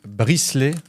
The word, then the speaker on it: bricelet: Alors, tout d'abord, on a des bricelets au chocolat. Alors ça, c'est une dinguerie. Bricelet, je l'ai bien dit. Tu prononces très bien.